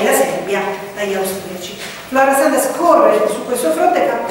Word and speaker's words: Flora Sandes: Flora Sandes, si scrive come ve lo dico, cioè quindi non si pronuncerà così perché era inglese, era una infermiera inglese,